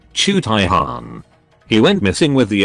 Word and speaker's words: Jaghatai Khan: space marines legion chapter whose name nobody in vl audiobooks can pronounce protip chu taihan he went missing with